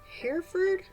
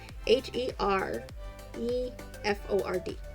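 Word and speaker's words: Hereford: owned by Chef Mason Herford Herford not sure how to pronounce his last name h e r e f o r d here Ford who owns not only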